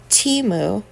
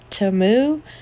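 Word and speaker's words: Temu: I got off of Teemu but if you watch the football game I guess it's per pronounce TAMU I think we all been saying it wrong but this cute little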